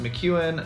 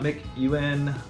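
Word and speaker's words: McEuen: Tower named after it it is mckuin so it's pronounced mchu not McKuen um there also really hard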